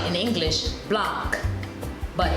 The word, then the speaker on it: Blanc: So B-L-A-N-C, we would say in English Blanc, but in French, the C is left out and it's pronounced Blanc, B-L-A-N, Blanc, but it's spelled with a C.